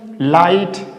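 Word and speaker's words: light: लाइट। लाइट जी एस का pronunciate नहीं करेंगे।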